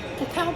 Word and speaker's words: cacao: preference for the latter how to pronounce cacao cacao pronunciation just like in cut or cowardly cocoa pronunciation just like in